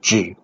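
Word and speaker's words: 智: It's pronounced as Zhi in Chinese.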